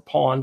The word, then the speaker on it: pwned: If that's how you say it, or pawned. I think it's pwned, actually.